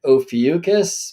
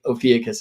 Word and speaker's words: Ophiuchus: Although back then I was pronouncing it Ophiuchus, but I was corrected in that video in the chat. So can't remember by whom, but thank you for that. So Ophiuchus is a better pronunciation in the old Greek.